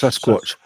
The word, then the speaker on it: Sasquatch: Sasquatch. Like a watch. Sasquatch. That's a good way.